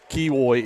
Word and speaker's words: Kiwoy: Kiwoy is how you actually get his name pronounced correctly.